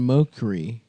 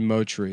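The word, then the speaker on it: Mochrie: Colin Mockery. Motry? How do you say There's a Motry, you're right.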